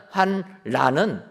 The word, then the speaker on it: 환란: 그리고 리을로 끝나는 환란은 환란으로 읽어야 된다라는 것입니다.